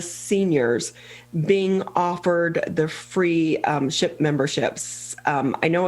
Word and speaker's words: Shipt: All the credit belongs to Oakland County, Dave Coulter and his staff, but the service is called Shipt, and I had to be careful pronouncing that, S-H-I-P-T, Shipt.